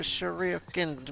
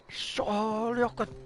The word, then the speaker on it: shuriken: Hey, this little guy tried to shuriken me. Oh man, I messed up the pronunciation on that. Shuriken.